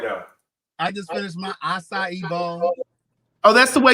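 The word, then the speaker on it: açaí: you go right now i just finished my assa evolve oh that's the way you pronounce it acai yeah you know that's the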